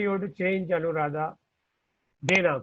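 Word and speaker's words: देना: Koduttal. To give. Not Dona. Puchna, Jinashri is right. Dona slightly you have to change Anuradha. Dena, correct.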